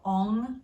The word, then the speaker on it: ong: but omg which is pronounced by lifting up the tongue against the back of the roof of the mouth so it vibrates your